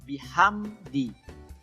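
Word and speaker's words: بِحَمْدِ: itu bukan huruf Qalqalah jadi jangan be Hame di Hai boleh harus bihamdi minimnya dihabiskan dulu kemudian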